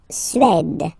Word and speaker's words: Suède: La Suède. D, d. La Suède. Suède. Remember, accent grave, it's really open.